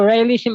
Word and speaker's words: Raelism: It also, Raelism also rhymes with realism, because you're so bounded